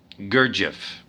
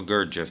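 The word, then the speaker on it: Gurdjieff: his grandson by the armenian mystic george um gurjev g u ah no gerd jeff let me see gurgif how do you spell it g u r d g i e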